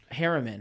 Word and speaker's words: Harriman: what was the plaza Harriman I said it wrong I said Hartman's Harriman h EI r RI